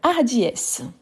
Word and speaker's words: hardiesse: Donc hardiesse. Hardiesse. Hardiesse c'est féminin et c'est un H aspiré. C'est la hardiesse.